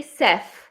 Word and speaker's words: chef: Now, can you pronounce these words? Launch English chef. Chef. You can't say chef.